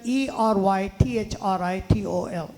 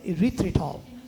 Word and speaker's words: erythritol: don't have to go far to find it it's spelled e-r-y-t-h-r-i-t-o-l erythritol e-r-y-t-h-r-i-t-o-l erythritol and so you take baking cocoa